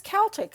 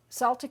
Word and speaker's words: Celtic: not for other things it is spelled with the C but pronounced as if it were a K and to make the